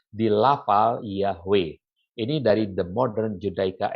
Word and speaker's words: Yahweh: juga lebih mengindikasikan bahwa Yud He Vav He should be pronounced Yahweh.